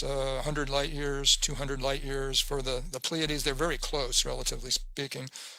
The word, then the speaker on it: Pleiades: Now I just realized I didn't pronounce that right. Pleiades.